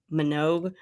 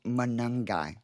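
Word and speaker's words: Monangai: So, Kyle Manangi, my wife was like, if you say Kylie Manog, I won't fault you for that. I butchered the name on the DFS show last Friday with Joe Mattz. He got quite a kick out of but I got now it's Manungi.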